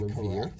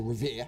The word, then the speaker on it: Revere: the Executive Director of the Housing Authority in Revere. Correct. Or Revere.